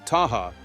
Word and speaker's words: Tehama: Tehama, pronounced Taha, features an exciting 18-hole golf course and an elegant 18,000-square-foot Spanish-style clubhouse.